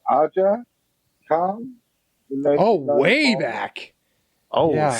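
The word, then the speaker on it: Aja Kong: I don't want to pronounce it wrong. It's Aja Khan.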